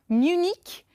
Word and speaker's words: Munich: On prononce Munich Et Munich est en Allemagne.